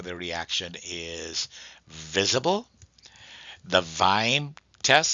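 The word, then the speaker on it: Kveim: VIME is spelled Kviem.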